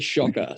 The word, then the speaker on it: Szoka: How you say my last name is actually Szoka. So spell it Szoker is the easiest way. It's Polish.